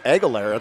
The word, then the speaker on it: Aguilera: something well it's known we have it right it's aguilera we've been calling her all year yeah aguilera maya